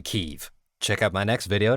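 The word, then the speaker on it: Kyiv: in ukraine what's with everybody two years ago pronouncing kiev kiev and now it's obvious to everybody that it's always been keiv check out my next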